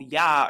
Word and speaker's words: Yah: And you'll see in the KJV today in Psalm 64 that our father's name is spelled Yah or JAH, but it's not pronounced as J, it's pronounced as a Y.